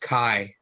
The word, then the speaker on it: chi: so look at this chi squared that's actually pronounced chi uh okay so different terminology so yeah child square test or i i typically use the word chai to pronounce it so it's a square test